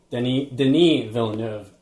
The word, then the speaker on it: Denis Villeneuve: So, I mean, our buddy Denis Villeneuve.